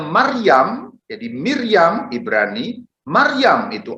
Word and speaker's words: Maryam: Saudara-saudari, nama Maria itu ejaan Latin, sedangkan ejaan Ibraninya itu berbunyi Miriam. Ini Miriam, bunyi asli dalam Ibrani. Miriam, bunyi Aramnya Maryam.